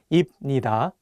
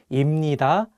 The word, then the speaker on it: 입니다: For example, if you just read the Hangul on their own, you might want to say 입니다 and 합니다. But the correct pronunciations are actually 입니다 and 합니다.